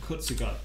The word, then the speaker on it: Kurzgesagt: So that's how you say it, Kurzgesagt.